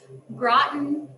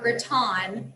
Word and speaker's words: gratin: joking around about how if you say groton or graton it's kind of like tomato tomato we all say it a little bit differently but i think that